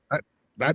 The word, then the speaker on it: chuckaboo: It sounds like I've heard it as a The inappropriate term, but aboo yeah, suffix, chuckaboo. No, that's exactly how it's spelled. Chuckaboo. chuckaboo.